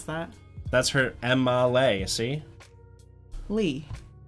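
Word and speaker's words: Leigh: Lee. L-E-I-G-H, you pronounce that Lee? Yeah. You wouldn't say Lay?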